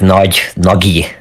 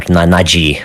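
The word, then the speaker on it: Nagy: that's most of the time I hear it as like Nagi or Naji or something like that. That's Naggy. Nagi, yeah, Nagi.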